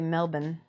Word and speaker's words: Melbourne: cuz effective camouflage exactly funny how Americans say Mel yeah they say Melbourne Melbourne Melbourne Melbourne that's what we say but it's it's actually Melbourne with the Ln like kind of like nullen right I have this